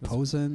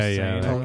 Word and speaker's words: Posehn: I can never say his name right, but comedian, really tall guy, Brian was it Posehn? Oh, yeah, Posehn. Yeah, Posehn, yeah.